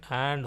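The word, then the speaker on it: आ: And the way you pronounce is like Ye in art. Art. Art. Art. And like Ye in army. Army. Army. And like Ye in far. Far. Far.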